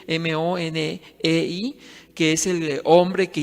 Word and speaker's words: Money: Pueden ustedes ver en internet, vean, pongan la palabra Money, el apellido Money, así se escribe, Monei, que es el hombre que inició, fundó la ideología de género.